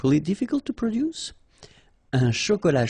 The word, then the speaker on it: chocolat: Un chocolat chaud. Remember, C-H, ch, chaud. Chocolat. And then final T not pronounced.